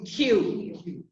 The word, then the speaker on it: queue: It's a strange pronunciation because you see U-E-E, but actually you pronounce Q.